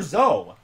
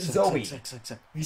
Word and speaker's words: Zoe: kicked you out because you kept calling her zoe you're a hoe like just it's pronounced zoey why did you why is z-o-e like who